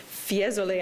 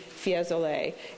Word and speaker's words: Fiesole: you last night to Fiesole I think is how you pronounce that do as well a